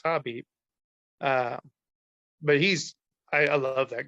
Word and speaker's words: Khabib: to is khabib bobby i guess i should say because i've always said it wrong and it's hobby but he's i love